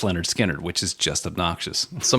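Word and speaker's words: Lynyrd Skynyrd: was the Same album as this one called pronounced Leonard skinnard which is just obnoxious so I'm going to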